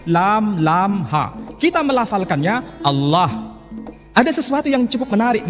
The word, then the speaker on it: Allah: Tidak ada seorang pun di kalangan masyarakat Timur Tengah ketika menjumpai istilah Alif, Lam, Lam, Ha dibaca Allah. Tetapi mereka serempak menyebutnya dengan pronunciation Allah.